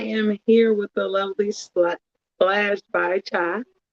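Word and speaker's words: Splashed by Cha: I am here with the lovely Splash by Chai. That's pronounced that right? Yep, Splash by Cha.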